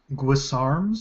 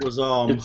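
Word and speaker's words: Guisarme: Guisarms? Oh, Guisarm, the wave pole Guisarm. arm. The pole arm. Yeah. Yeah. I can never pronounce that. It's weird. Guisarm. It's like French.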